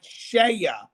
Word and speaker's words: Ceia: And guys, this video is also sponsored by Shea USA. Now, Shea is spelled Ceia.